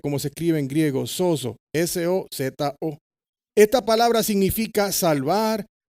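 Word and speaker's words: σῴζω: Y la tengo aquí atrás como se dice en griego, como se escribe en griego, sozo, S-O-Z-O.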